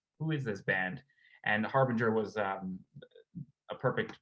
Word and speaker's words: Harbinger: What inspired the album Hairbringer, or however you say that? Harbinger. Harbringer. Yeah, I butchered it.